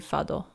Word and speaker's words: Fado: I'm gonna give most people a Japanese pronunciation, so he would be Fado.